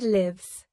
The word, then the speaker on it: live: Live is a verb pronounced like give with a short I sound means to have life or to resides somewhere.